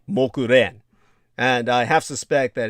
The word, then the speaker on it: Mokuren: And according to the story of Mogalyayanya, or the Japanese pronunciation for his name is simply Mokuren.